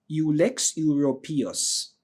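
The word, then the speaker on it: Ulex europaeus: is called ullex. U l e x and ur p a e u s ullex europus. All right, that's how we normally pronounce it.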